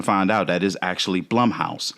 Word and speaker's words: Blumhouse: It It Cuz I used to always say Bloomhouse and then now I think we've come to find out that is actually Blumhouse. It rhymes with plum.